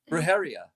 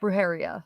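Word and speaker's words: brujería: yes she put up the pronunciation for you brujeria brujeria or Bruce you don't need to roll the r she said roheria yep roheria there you go okay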